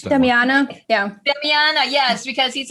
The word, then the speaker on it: damiana: you pronounce it i don't know how to pronounce that damiana yeah yes because he's like he has anxiety